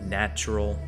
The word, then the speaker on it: nttrl: So this is the album Ask Nature and the artist NT RL pronounced natural.